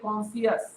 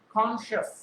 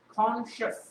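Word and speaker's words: conscious: আমরা অনেকে কিন্তু বলে ফেলি কনসিয়াস। উচ্চারণটা কিন্তু কনসিয়াস হবে না, উচ্চারণটা হবে কি? কনশাস। উচ্চারণটা কি হবে? কনশাস, right?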